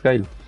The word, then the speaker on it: Guile: On prononce Guile.